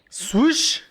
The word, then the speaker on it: SWSH: Voy a recomendar la canción de How You Feel de Swoosh. Se escribe SWSH.